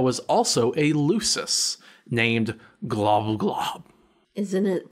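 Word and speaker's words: Gl'bgolyb: also a lusus named glum glob isn't it pronounced like glub-glub basically but creep more creepy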